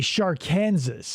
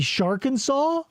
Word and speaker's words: Sharkansas: talking about videos and they say Sharkansas. Sharkansas. I'm 1000% sure that it's supposed to be Sharkansaw. Yeah, and I'm sure they were genuinely saying Sharkansas. Because Arkansas is spelled Arkansas. Yeah. And so if you go Sharkansaw. Yeah, Shark and Saw made Whatever. much more sense.